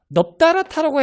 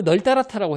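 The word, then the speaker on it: 널따랗다: 그럼 이것도 똑같이 적용이 되는 건데, 넙다라타라고 해야 될까요? 널따라타라고 해야 될까요? 널따라타겠죠. 왜냐면 뒤에 게 퍼먹어 중에 하나가 아니니까 널따라타라고 발음하는 거예요.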